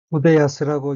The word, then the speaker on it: 筆安: 辻原昇、辻原昇、 후데야스라고 읽고 한자 연관 일본어로는 후대, 붓, 야순지루, 만족하다 등이 있습니다.